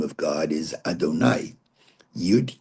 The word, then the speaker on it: Adonai: We read it Adonai.